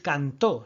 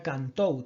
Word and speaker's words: cantou: Ahí tenemos ese falei, no se dice falé, sería falei, y no se dice cantó, sería cantou.